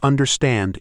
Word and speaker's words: understand: For understand, it's understand. Da da dum.